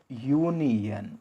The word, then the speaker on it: union: And the next one is a union. It is not an union because though it is starting with the vowel, its sound is U, yeah.